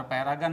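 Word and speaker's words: paragon: दोस्तों इस लिस्ट के सबसे अंतिम दो शब्द ड्रैगन और पैरागन में GON का प्रोनाउंसिएशन गन होता है।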